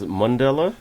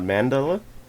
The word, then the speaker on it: Mandela: the proper way to say it is Mandela, not Mandela. Oh, yeah. Okay. No, Mandela. So it's like Monday.